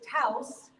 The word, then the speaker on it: Taos: How you pronounce it is Taos, like house. So we can get that out of the way.